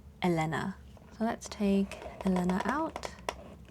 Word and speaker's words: Elena: And again, if you are tuning in mid video, I would normally pronounce her name as Elena or Alina, but based on the hungle from the artist, I am calling her Elena.